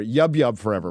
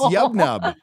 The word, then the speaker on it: Yub Nub: YouTube forever or Yub forever. Why did I say YouTube? Yub. Yeah. It's Yub Nub, right? It's Yub Nub. I think it's Yub Nub. Yub Nub. Get it right.